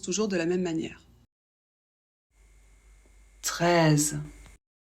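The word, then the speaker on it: treize: de la même manière 13 e et i ça fait le son e le Z toujours Z 13 toujours pas de problème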